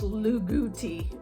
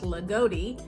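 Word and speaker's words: Loogootee: it's more like I always thought it was lugou but it's Lotti and that town has about 2600 people in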